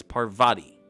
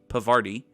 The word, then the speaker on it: Parvati: kinda she's kinda weird please please please stop saying her name so it rhymes with farty parvati parvati parvati her name is parvati it is not pavardi it is parvati parvati is that better